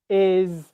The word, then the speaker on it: is: it's new for you start by just practicing these words here his is has was and make sure that you're able to pronounce a z sound z sound after the vowels okay um does that